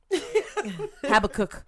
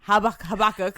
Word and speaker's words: Habakkuk: I'm not going to pronounce it. Okay. And I'm not going to help you. Habakkuk. Habakkuk.